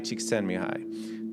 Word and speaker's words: Csikszentmihalyi: If you read any books on psychology, any books, you're going to hear this name, Mihai Csikszentmihalyi. Now, the way it's spelled is nothing like that, because this guy, I think he's like Hungarian.